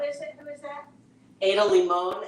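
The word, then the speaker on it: Ada Limón: Ada Limon, Limon with an accent, I believe, over the O.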